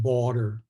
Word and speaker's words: Bader: And you're doing fine, Sheeta, but it's pronounced border, like Esther, Okay.